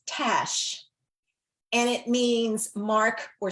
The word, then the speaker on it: Tache: And the one that she liked the best and my other daughter liked the best, it's Tache, but it's pronounced Tash, and it means mark or stain.